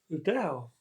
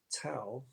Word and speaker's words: Dao: The Dao sometimes pronounced Tao T a but it's actually D AO in written alphabetical you know letters. It's pinion basically. Okay. The fourth tone in Mandarin Chinese.